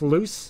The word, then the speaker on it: Luce: Is that pronounced Luce?